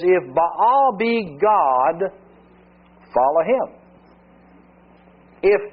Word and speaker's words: Baal: To go Baal, sometimes pronounced Bale, Hebrew, it's Baal.